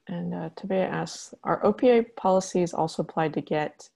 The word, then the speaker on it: OPA: And it is actually pronounced OPA.